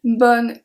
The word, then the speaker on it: bonne: So you agree that for BONNE we pronounced the B we pronounce the O and we pronounce the NN of course we don't pronounce the E. So BONNE.